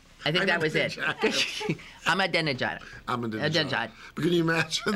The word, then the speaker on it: Ahmadinejad: And be like Ahmadinejad, or however you pronounce his name, and I'm embarrassed I don't know how. Ahmadinejad. Ahmadinejad.